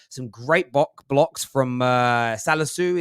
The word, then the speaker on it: Salisu: great blocks from uh salazu is it salisu is how you pronounce his name i mean he made